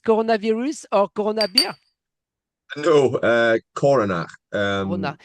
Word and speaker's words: Coronach: No, Coronach.